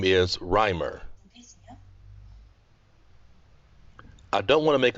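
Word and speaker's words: Reimer: your family name yes my family name is rimer i don't want to make a mistake could you please spell that sure that's r e i m e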